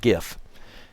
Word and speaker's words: GIF: by Ste Steve willhite to remind people it's pronounced GIF like the peanut butter so like I said